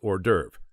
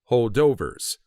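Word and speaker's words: hors d'oeuvres: derv at that point I had never heard the word pronounced out loud I knew our derves were small appetizer type food that were not considered a whole meal I thought since they were appetizers meant to hold you over until the main course of a dinner party or an event that or derves were pronounced holdovers a posh way to say holdovers and an even more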